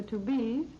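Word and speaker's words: Tubize: They're called to-be's chardonnized garments, which means that the fabric is a to-be's, and to-be's is spelled T-U-B-I-Z-E, rayon pre-tested for tailoring, washability, and wear.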